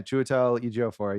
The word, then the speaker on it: Chiwetel Ejiofor: So Peter, played by Chiwetel Ejiofor, right? Is that how you pronounce his name? Yeah. Chiwetel Ejiofor.